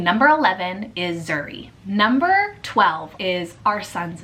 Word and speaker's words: Zuri: So Zuri can be spelled multiple different ways, but if you spell it Z-U-R-I, it is the Swahili translation for beautiful.